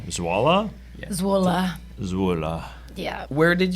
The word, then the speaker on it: Zwolle: pronunciation. Zwolle?